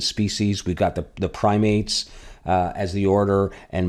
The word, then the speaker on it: Primates: that taxon the order called primates we are primates but it's pronounced primates which included the Apes and he went on